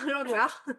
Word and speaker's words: Lenglart: Aujourd'hui, j'ai la joie d'accueillir Lenglart. Je prononce bien le nom? Ouais, tu peux le dire à la française, l'anglard.